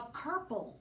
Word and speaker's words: kerple: And a kerple rhymes with purple, and it has something to do with the hind quarter of a horse.